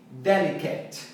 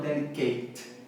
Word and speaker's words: delicate: E também aqui, delicate, e não delicate.